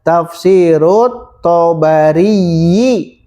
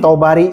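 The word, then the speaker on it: تفسير الطبري: Nah ini diidofahkan cara bacanya ya. Berarti cara baca di atas lihat tafsirut Tabari. Nah, itu cara baca yang benar. Tapi dah jarang, mereka langsung Tabari saja.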